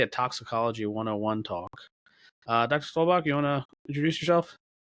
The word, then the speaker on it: Stolbach: How do you say it? Stolbach? Stolbach. Stolbach. Oh, I got right on the first try.